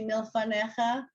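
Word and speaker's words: מִלְּפָנֶיךָ: Look at milfanecha. Does everybody see milfanecha? You've got the two dots under the lamed. You've got mil. That's my syllable. Fa, ne, cha. So it's a letter and a vowel, but then if the next letter has the shva, it's a syllable.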